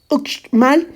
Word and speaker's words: Uxmal: Para las palabras provenientes del maya, la X suena como ch. Uxmal se pronuncia mal. Es de mal gusto pronunciar la X como CS.